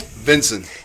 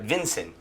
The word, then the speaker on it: Vinson: Vinson. Vincent, just like Vincent, but Vinson.